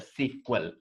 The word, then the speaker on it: SQL: to test that SPM this SQL is pronounced as a sequel this SQL is pronounced